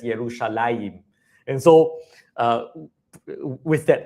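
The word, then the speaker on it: ירושלים: And the reason is because uh the name Jerusalem in Hebrew was originally spelled in this way uh to be pronounced something like Yerushalem. All right? Originally, it was pronounced Yerushalem. Um however, in later times um the the name became pronounced as Yerushalaim.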